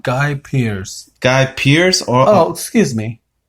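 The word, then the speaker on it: Guy Pearce: name is Gaia Pierce everything I tell you pronounce it guy Pierce guy Pierce or excuse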